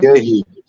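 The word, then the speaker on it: Guéhi: How do you pronounce that name? Gehi. Gehi.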